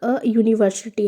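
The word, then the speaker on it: university: बट यह यू से शुरू हुआ है क्योंकि इसके प्रोनाउंसिएशन में यू आ रहा है जो एक कॉन्सोनेंट है वाई ओ यू एंड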